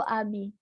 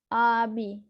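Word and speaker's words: ağabey: Abi. Bacanya bukan AB, tapi Abi.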